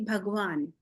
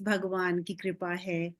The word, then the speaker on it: Bhagavan: we do use uh we do not use the Sanskrit pronunciation we say bhagwan.